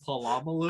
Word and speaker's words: Polamalu: Polamalu.